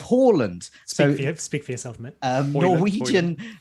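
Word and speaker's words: Haaland: we with harland because we use the correct norwegian pronunciation of horland so speak for yourself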